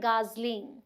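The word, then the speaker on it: gosling: फिर है कलहंस, जिसे बोलते हैं गूस, बेबी को क्या बोलते हैं, स्पेलिंग देखिएगा और इसकी प्रोनाउंसिएशन भी, इसे बोलते हैं गाजलिंग, गाजलिंग।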